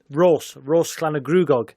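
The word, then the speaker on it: Rhosllannerchrugog: Well, my father grew up in Rose Clanagruagog, which is near Wrexham. That's how you pronounce it.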